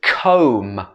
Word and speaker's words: comb: english next one is comb this b is at the end of the word but we don't say the b it should be comb